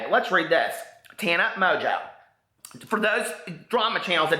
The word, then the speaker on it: Mongeau: it doesn't say but let's read this Tana Mojo for those drama channels that don't know how to pronounce her name you could have done your